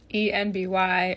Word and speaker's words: enby: ENBY, or NB, is actually a phonetic pronunciation of NB for non-binary.